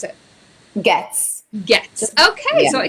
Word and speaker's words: Goetz: How do you pronounce it? Goetz.